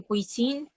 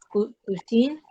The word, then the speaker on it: cuisine: Cuisine. Cuisine. Cuisine. Exacto. Muy bien. Cuisine. A veces, cuando yo exagero un poco esa palabra, puedo llegar a decir cuisine, cuisine, cuisine, y dejo entrever esa E.